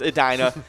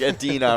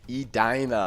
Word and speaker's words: Edina: the mispronunciation is a dinner but the actual pronunciation is edina so okay so that makes sense edina but uh but yeah i thought it was like adina or something like that but it kind of